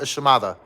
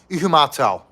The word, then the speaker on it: Ihumatao: To the honky locals, we called it Ishimada. But the correct pronunciation is Ihumatao.